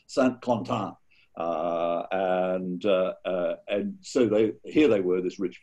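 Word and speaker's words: Saint-Quentin: If you live in San Francisco, you think it's called San Quentin, but it's not. It's called Saint Quentin.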